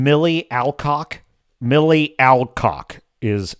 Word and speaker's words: Millie Alcock: Millie Alcock is how you pronounce her name correctly.